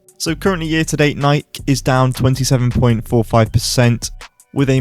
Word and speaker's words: Nike: Yes, I pronounce it Nike. I am English.